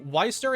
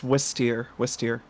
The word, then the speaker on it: Wisteria: Wisteria, like the flower, Wisteria. Yeah, pretty much. Sorry, I'm just popping in for a second. It's Wisteria.